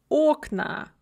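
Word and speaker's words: окна: very often is that there are many dye syllabic words words with two syllables that are stressed on the second syllable in the singular and then the stress shifts to the first syllable in the plural so window becomes ocna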